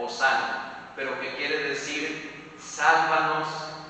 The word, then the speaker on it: Hosana: Es una palabra compuesta, Yoshana, que nosotros lo pronunciamos, claro, latinizado ya como Hosana, pero que quiere decir sálvanos ahora.